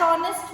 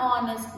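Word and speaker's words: honest: Dash ऑनेस्ट मैन क्या आएगा? एन ऑनेस्ट मैन। क्यों? क्योंकि ऑनेस्ट में भी एच इज साइलेंट, साउंड अ की है, ओ पहले आ रहा है ना, ऑनेस्ट, ओ की साउंड है, इसलिए एन आर।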